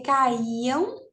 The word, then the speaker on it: caíam: Ó, caíam. Aí a gente já percebe que realmente é um hiato. Ó. Caíam. E a gente percebe que o i fica sozinho. Então, faz sentido sim.